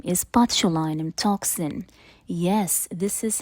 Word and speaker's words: botulinum: You know, Botox is the brand name, but the full name is botulinum toxin. Yes, this is how it's actually pronounced.